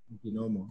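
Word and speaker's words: Niquinohomo: She mentions that her farm is in, and correct me if I'm pronouncing this wrong, but it's in Niquinomo? Niquinomo, yes.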